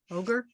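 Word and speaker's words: orge: that it's what orgy o-r-g-e ogre ogre sort of ogre all right I'm I'm mispronouncing it then no no no you're pronouncing it fine it just looks like ogre okay that's a better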